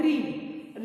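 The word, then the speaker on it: read: only change is इन the pronunciation of the word रीड रीड हम root form में बोलेंगे ट in present tense where in past tense व pronounce the word a रेड fine so this स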